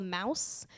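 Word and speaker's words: Maus: He recommended me a book called Mouse. There's 2 books actually. It's spelled M-A-U-S, and it's written like a comic, but it's a World War II story.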